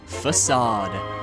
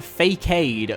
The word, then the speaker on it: Facade: of the face shrine facade and fun fact as a kid I had no idea how to pronounce this word so I called this man fade for the longest time now if we're giving